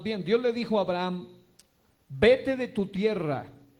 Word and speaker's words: Abraham: Sabemos que se llamaba primero Abraham y luego se llamó Abraham. Muchos solamente dicen Abraham, pero realmente la H se debe pronunciar en el contexto del origen del nombre hebreo.